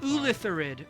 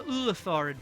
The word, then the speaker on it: illithid: You know this to be an Ulithid. illithid or a illithid. People pronounce it different ways.